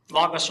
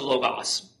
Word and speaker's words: Logos: Logos or Logos, okay? I tend to pronounce it Logos.